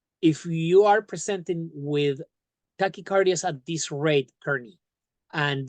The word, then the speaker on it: tachycardia: I actually could you pronounce that for me? I'm not 100% sure how to say that. It's tachycardia.